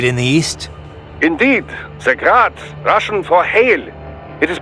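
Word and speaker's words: Град: Technically, the UG's name is pronounced Grad, the Ukrainian way. But most in the business pronounce it as Grad, Russian style.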